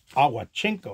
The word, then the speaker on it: Owchinko: got cb has got bob ocho cinco a watchinko i think that's how you pronounce his name so let's see what